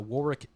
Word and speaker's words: Warwick: Um, I'm going to shout out uh Warick Davies or War I always call it Warick Davis, but it might be Warwick Davis. I've been saying it wrong for 30 years.